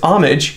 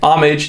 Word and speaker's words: homage: pay homage of course in the english pronunciation it's homage you can even say see the little phonetic key there in the dictionary homage that's the proper way